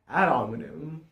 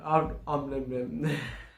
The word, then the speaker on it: ad hominem: Now, we will start with ad hominem. I think it's pronounced like that. Ad hominem. Ad hominem.